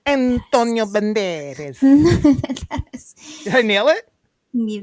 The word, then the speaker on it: Banderas: Antonio Banderes.